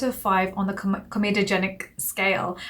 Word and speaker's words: comedogenic: the com comedogenic scale I always say kenic and I don't know why I say that it's comedogenic scale my dad was watching one of my videos he was like Nita can you just say it properly so I'm like yes we're going to say it properly comedogenic scale which means that it's